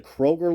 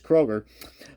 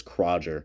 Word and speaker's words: Kroger: I knew quite well who actually pronounced this Kroger. Now, I'm not sure what kind of foreign language that was, but I was like, Kroger? Okay. I guess that's the G we're looking for in Kroger.